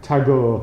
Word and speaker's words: Tagore: to go to go is it it's a hard G in Indian poet called to go is that is that not as your tagore okay so uh to